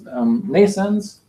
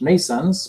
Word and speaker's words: Nascence: Nascence is pronounced like birth in English. Nascence, because it's about the birth of something. It's spelled in a different way.